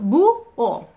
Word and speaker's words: búho: diptongo originario que ya, como la vocal tónica es la U, ya se ha transformado en hiato, se divide en dos sílabas, búho.